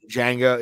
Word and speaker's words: Django: yeah it was all right ah the d is silent what and confusion mango ingredient yeah oh django yeah that's still one of my favorite tarantino